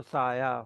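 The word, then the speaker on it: سایہ: जी अब इसको अगर हम हे प्रोनाउंस करेंगे तो साए हो जाएगा, और इसको अगर हम आ प्रोनाउंस करेंगे तो साया हो जाएगा।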